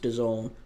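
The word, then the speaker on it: DAZN: People are saying that's pronounced Done, but it is on Done.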